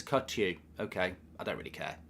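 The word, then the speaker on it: Kökçü: says Phantom and uh you pronounce it as cut you okay I don't really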